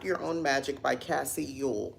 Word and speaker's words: Uhl: own Magic by Cassie Yu that's how you pronounce her name by the way Yol let me pull this